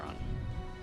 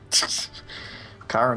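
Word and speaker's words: Chiron: Smite which is chyon what do you think about chyron Kiron is strong in three roles k sorry I I was mispronouncing it Kiron is strong in the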